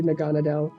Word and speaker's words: Naganadel: it it was actually naganadel and yes I pronouncing it naganadel not naganadel as every everyone keeps saying it's naganadel it's a Naga like a giant serpent thing even though it's not